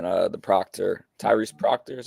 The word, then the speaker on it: Tyrese Proctor: I missed most of the game, but I heard a lot of people saying the Proctor, Tyrese Proctor is how you say his name.